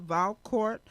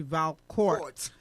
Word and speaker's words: Valcourt: Valcourt do you say Valcour or you do pronounce the T yes okay so in names because I know in French you normally don't pronounce the T but in your name is actually Val courts okay so a mr.